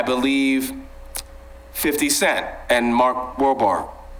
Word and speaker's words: Wahlberg: Louisiana, I believe, 50 Cent and Mark Wahlberg.